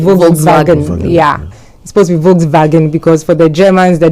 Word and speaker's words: Volkswagen: it's supposed to volag yeah supposed to be Volkswagen because for the Germans the W represents the